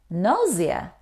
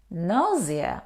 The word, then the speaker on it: nausea: no it's not correct we don't pronounce the word c here we pronounce nausea nausea or nausea nausea is the feeling